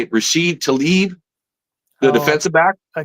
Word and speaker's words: Talib: Rasheed Talib, the defensive back. Talib.